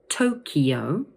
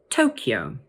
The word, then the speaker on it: Tokyo: So the sound in the middle of the word is slightly different, but the stress is always on the first syllable. So let's say them both again. Tokyo or Tokyo.